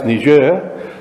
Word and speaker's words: Niger: And just interestingly, the trouble that's going on right now in Niger, if you want to pronounce it the French way, it's Niger.